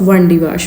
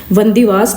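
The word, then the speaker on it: Wandiwash: kilometre Chennai दे दूर एक जगह या वंदी वास ठीक है जिन इंग्लिश प्रोनाउंस नहीं सी कर पा तो वेंडी वश कह द सीगे सो ए थर्ड कर्नाटिक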